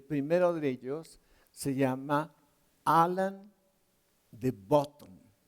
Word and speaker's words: Alain de Botton: de ellos se llama Alain de Botton, o como lo pronuncian los franceses, Alain de Botton.